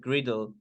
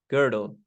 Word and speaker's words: girdle: clean and had beautiful teeth the auspicious sacred griddle how is this pronounced girdle yeah girdle was tied on her wrist she